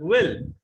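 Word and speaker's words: will: अब इसको ना विल विल विल ऐसा कुछ मत बोलना, दैट इज विल। डब्ल्यू का साउंड जब आप प्रोड्यूस करते हैं, प्रोनाउंस करते हैं, लिप्स को राउंड शेप में लेकर आए।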